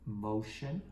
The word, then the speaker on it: motion: Now, how about the second syllable shun? Someone says T-I-O-N. I go, great. Now, I may want to pause here because, of course, T-I-O-N is not regular in terms of its phonics pattern.